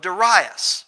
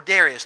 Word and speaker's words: Darius: Number 2, the commandment or decree of Darius, or Darius, depending on how you like to pronounce his name.